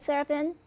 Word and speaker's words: Serafin: to seraphin la fran la riviere did i pronounce it right seraphin yep larry vanier that's just perfect and right